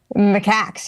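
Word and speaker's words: macaque: When I read the original stories about I don't know how to pronounce it. Is it Macox? Is that how you Oh, the monkeys. Macaks.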